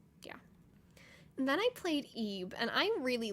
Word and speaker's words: Ib: And then I played Ebe, and I really like Ebe. So it's just like IB. That's how it's spelled. It's like Ebe.